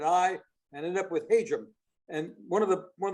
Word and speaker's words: Hajim: been is the pronunciation there's been hajime which sounds much better but it's not correct it's agent and of course uh